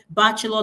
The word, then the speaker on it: bachelor: Bachelor, the stress is on the first syllable.